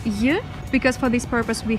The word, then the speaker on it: й: or just й, if you want to learn how to pronounce this letter in english you can just pronounce the word join and this is i letter is й in russian.